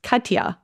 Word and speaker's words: Katja: generalization but Australians have a lot of trouble pronouncing anything complicated I speak of lived experience here my name is Kya okay now there were no other cers in